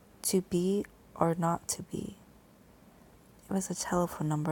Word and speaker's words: 2BR02B: The 0 in the telephone number he pronounced not. The number was 2B or not to be.